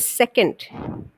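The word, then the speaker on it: secant: term for it so such line is called second we spell it as s-e-c-a-n-t that is the second of a circle right so these are basically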